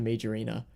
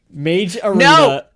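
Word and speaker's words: Mage Arena: major arena is, spell it m a g- e space arena because it sounds weird when you say it all. It sounds like one word.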